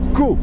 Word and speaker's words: Coo: les Belges, qui est la cascade de Caux. Ça s'écrit C-O-O, juste pour votre info.